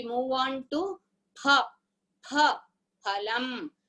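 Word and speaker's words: फलम्: See, in Hindi they will pronounce it as Fa. We must never tell this as Fa by mistake also. There is no letter in Sanskrit as Fa. We must only pronounce like Pa.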